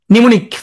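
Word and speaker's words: pneumonia: প থাকলে শুরুতে প্রথমে কিন্তু পি নাই স্কিজফ্রেনিয়া নিমনি প্রথমে উচ্চারণ হয় না নিমনি আসার কারণে তোমার আর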